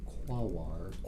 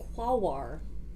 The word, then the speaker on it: Quaoar: And a dense ring around the trans-Neptunian object Quawar, Quawar. perhaps pronounced something like that, Quaoar.